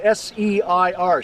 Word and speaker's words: Seir: In the Bible, it's spelled S-E-I-R, Seir.